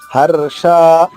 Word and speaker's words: హర్ష: హర్ష రా కింద షా ఉంది దీర్ఘంగా. హర్ష ఉషాలో పలికే షా ఇది.